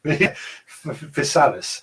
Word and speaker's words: Physalis: Physalis. Physalis. Chrysalis. Yeah, that's probably the way to do it.